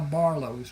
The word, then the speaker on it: Barlos: And that is how Barlos was born. The name was not a problem for the people in southern Louisiana because the French Ocadian influence. It is pronounced Barlo.